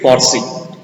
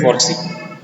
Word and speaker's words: Forsyth: Frederick Forsey. SYTH is silent. Frederick Forsey.